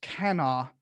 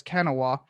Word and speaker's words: Kanawha: They had successfully built a union up in I'm told it's pronounced Kanawha, but I've always read it as Kanawha.